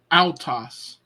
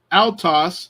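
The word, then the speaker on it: αὐτός: Alpha oopsilon Alpha oopsilon it's gonna be a owl sound ow like Faust so it's gonna this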